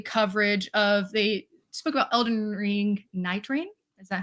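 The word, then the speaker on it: Elden Ring Nightreign: We also have the Spotlight Games, both present as well, that did a lovely coverage of, they spoke about Elden Ring Night Rain. Is that how you pronounce that?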